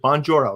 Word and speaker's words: Bonjoro: And did I pronounce that right? Is it Bonjoro, right?